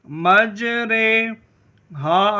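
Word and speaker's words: مجراها: کو امالہ کہتے ہیں۔ امالہ کی را کو اردو کے لفظ قطرے کی را کی طرح پڑھیں، یعنی ری نہیں بلکہ رے پڑھیں۔ امالہ کے ہجے اس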